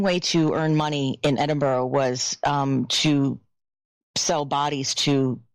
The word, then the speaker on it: Edinburgh: It's spelled Edinburgh, but anyway, Edinburgh.